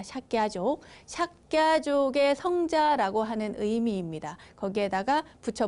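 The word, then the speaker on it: Śākya: 석가모니의 석가, 그러니까 석가족, 원어로는 삭갸족이라고 하죠. 발음이 어렵습니다. 삭갸족, 삭갸족의 성자라고 하는 의미입니다.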